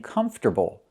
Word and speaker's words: comfortable: We do not put the stress on the second syllable. It's on the first syllable.